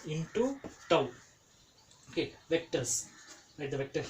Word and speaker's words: tau: um time instead of time here it is tau a tau t a u okay this is